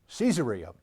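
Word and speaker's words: Caesarea: Roman uh Emperors then you understand why the pronunciation might be and is cesaria cesaria Philippi is is a very interesting place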